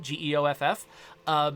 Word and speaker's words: Geoff: Jeff pronounced like my name, Geoff.